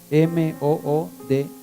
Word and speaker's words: Moody: Averígüense. Moody. M-O-O-D-Y. Moody se pronuncia.